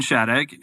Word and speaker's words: Shadegg: And we're super excited to have a guest on today, Shadegg, who is did I pronounce that right?